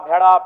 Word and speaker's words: भेड़ा: सर्वे कर लीजिए कि उनमें व अगर उच्चारण भी करेंगे ना तो वो कारा कहेंगे भेरा कहेंगे भेड़ा नहीं बोल पाएंगे तो कोई जो भाषा